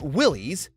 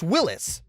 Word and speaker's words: Willys: It's not Willys, it's Willis. That's how its founder, John North Willis, pronounced it.